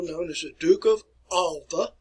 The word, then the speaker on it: Alba: as the duke of alba or alba if you want to pronounce it that way it kind of sums